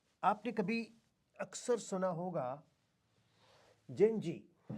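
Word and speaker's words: Gen Z: कुछ लोग जी को जेड भी बोलते हैं तो जनरेशन जेड भी कह सकते हो आप, लेकिन the right pronunciation is जेन ji, generation ji.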